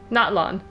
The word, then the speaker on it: Natlan: Natlan.